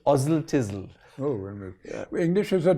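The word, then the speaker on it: Oswaldtwistle: there's a place called oswald thistle which is pronounced ozil tizzle oh yeah english is a totally crazy language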